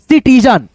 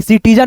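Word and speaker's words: citizen: सिटीजन सी के बाद क्या है? आई है। तो सी का उच्चारण क्या होगा? स होगा। सपेरा वाला स तो यहां पे देखिए सिटीजन हो गया।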